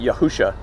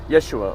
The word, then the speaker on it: Yeshua: pronunciation of Yahshua okay why is he saying yahushua yahushua that ain't how you pronounce it it's Yeshua or Yahshua you know what I